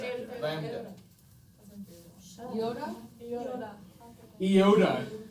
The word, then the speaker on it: Iota: Iota. It's the Greek equivalent of I, not Yoda.